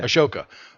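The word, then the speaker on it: Ahsoka: Anakin Skywalker Obi-Wan Kenobi and um is it Ashoka is that how it's pronounced Asoka yeah Asoka uh Tano so they came in to train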